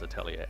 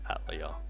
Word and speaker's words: Atelier: I pronounce it Aellier, but I've heard it pronounced as both ways, as Aatellia and Atlia. I go back and forth.